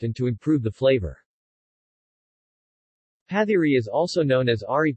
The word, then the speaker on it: pathiri: pathiri malayalam patiri pronounced pat e is a pancake made of